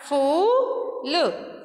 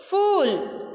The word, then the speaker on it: फूल: ल, तो फ में बड़ा ऊ की मात्रा फूल, फूल, क्या बोलेंगे इसको, फूल, ठीक है।